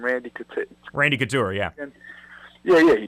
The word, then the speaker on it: Randy Couture: Randy Couture.